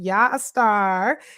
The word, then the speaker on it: Yaa Star: It's so cool cuz I feel like I'm calling you an a star when I say your name.